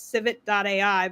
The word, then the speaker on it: Civitai: It's civit.ai, but it's pronounced Civitai.